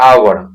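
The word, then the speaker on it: hour: नहीं एन लगेगा, क्योंकि इसका प्रोनाउंसिएशन जब करते हैं ना तो एच को नहीं पढ़ते हैं, इसका प्रोनाउंसिएशन होता है आवर, आवर, तो आ क्या है, हिंदी में क्या है, वॉवेल है, ठीक है।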